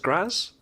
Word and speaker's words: Graz: But you have a degree in modern composition from the University of Art in, is it pronounced Graz? Yeah, it's Graz.